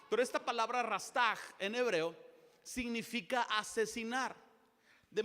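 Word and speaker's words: רצח: La palabra que se utiliza por matar es una palabra en hebreo que es rastaj. Se escribe rastash, pero se pronuncia rastaj.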